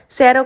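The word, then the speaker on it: cero: सी से पहले अगर सी के बाद में सॉरी पहले नहीं बाद में अगर ए ओ और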